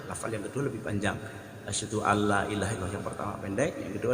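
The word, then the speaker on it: أشهد أن لا إله إلا الله: Asyhadu alla panjang, antara la pertama dan la kedua adalah panjang la yang pertama. Saya contohkan. Asyhadu alla ilaha illallah.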